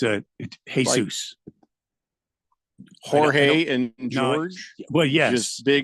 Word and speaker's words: Jorge: the longest home run of the Season uh George solar I'm sorry Jorge solar yeah he's his was 478 feet a